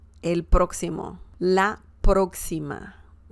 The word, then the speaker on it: próximo: You have the emphasis on the first syllable, próximo.